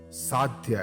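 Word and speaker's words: साध्य: Sadhya, and pronounced as sadhya.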